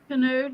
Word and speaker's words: Canode: And here tonight we have Anna Zayden, Linda Williams, and Mindy, am I saying it right? Node? Canode, yeah. Canode.